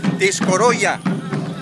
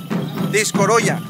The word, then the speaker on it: discoroya: Por ejemplo, la palabra gracias, según me comentaron, gracias en soque se pronuncia discoroya, cuando es del soque de Copainalá, discoroya. Ahora, cuando es el soque de Tuxtla Gutiérrez, se pronuncia ticotá, que significa lo mismo, gracias.